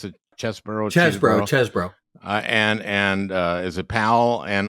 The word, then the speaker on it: Chesebro: Okay, so you mentioned that first Chesebro, is how you pronounce it? Chesebro.